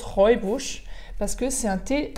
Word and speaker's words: Rooibos: aurait beau jeter oui ça se prononce robe rouge parce que c'est un